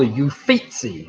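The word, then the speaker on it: Uffizi: wanted in italy is called au feet see you'll fix a gallery that's a proper pronunciation as well number three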